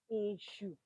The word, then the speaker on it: Èṣù: English word it is isue pronounce it open your mouth and say isue just write just pronounce a and Sh hu sound a sh that's all there's nothing more to it issue is not Satan